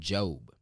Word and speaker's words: Job: In Job. It's actually spelled like Job, J-O-B, if you want to go read it.